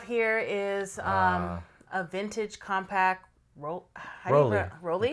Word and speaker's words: Rollei: So the first one we have here is a vintage compact Rolly. Rolly? You pronounce it Rolly, yeah.